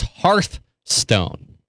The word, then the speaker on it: Hearthstone: to answer your question the correct way to say it and I run into this problem all the time it's hearth stone I think the problem